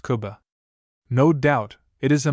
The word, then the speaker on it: Cuba: history of this city, known to most Cubans as Cuba, pronounced Kuba.